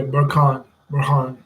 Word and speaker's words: Burhan: Let me make sure I'm pronouncing his name right. Hold on. Yeah, Burhan.